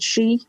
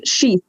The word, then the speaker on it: Sídhe: of the words but in modern irish we pronounce it she and it's thought that it might have been pronounced she like a sword sheath